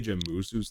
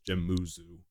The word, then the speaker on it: Jemuzu: I know I say Jemuzu's the name, but it's technically pronounced Jemuzu. The U, first U is silent. I understand that a lot of people get confused when I tell them this, so that's why I just said it as Jemuzu. It's technically Jemuzu.